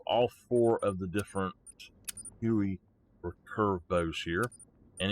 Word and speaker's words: Houyi: four of the different huey and it is pronounced hui like you would i guess spell w-h-o-i-e i guess uh it